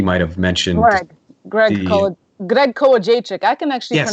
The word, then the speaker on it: Kołodziejczyk: I think he might have mentioned Greg Greg Kołodziejczyk. I can actually Yes.